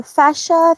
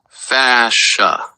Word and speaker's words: fascia: Uh so earlier we were talking about the uh fascia thing. Can you just pronounce it slowly so I will learn how to say it in English because English is my second language. It's pronounced fasa.